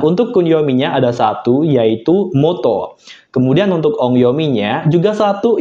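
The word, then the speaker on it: 本: Nah, untuk kunyominya ada satu, yaitu moto. Kemudian untuk ongyominya juga satu, yaitu hong, buku, kayak gitu.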